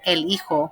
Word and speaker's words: el hijo: we're going to say remember that j is like an h and the h is that we see written is is silent so elijo for the female daughter